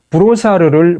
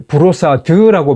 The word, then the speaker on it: Brossard: 이게 그야말로 관대한 생각인지 자기 편한 대로 자기 멋대로 하는 건지 모르지만 첫째, 브로사르를 브로사드라고 발음합니다.